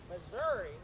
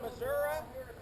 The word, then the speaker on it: Missouri: in Missouri you sure it's not Missour that's a big debate as to whether it's Missouri or Missouri if you ask the Native Americans that the state is named after they'd say Missour they pronounce their own name Missour but most missourians say Missouri now there is a